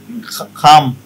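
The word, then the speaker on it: come: My request, name, fake, খাম, ঠিক, সি। আচ্ছা, এর আগে ওই যে সিওএম, এটার উচ্চারণটা আবার বলেন তো।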